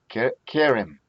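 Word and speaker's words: כֶּרֶם: This is Kerem, Kerem. The tone syllable is the K.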